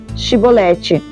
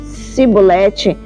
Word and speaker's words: Chibolete: Se respondesse que não, diziam: "Então diga: Chibolete." Se ele dissesse cibolete, sem conseguir pronunciar corretamente a palavra, prendiam-no e matavam-no no lugar de passagem do Jordão.